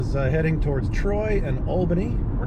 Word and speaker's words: Albany: Or as President Barack Obama pronounced it incorrectly, Albany. Ooh, you figure they would have brushed him up on that. Hey, Barack, before we land, it's pronounced Albany.